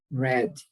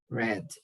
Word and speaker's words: read: uh look here to read read the spelling is the same the pronunciation changes in the past okay red red to read red okay i think to